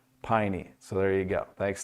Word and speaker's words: Peine: N E and said it's like a pie on your knee. Piney.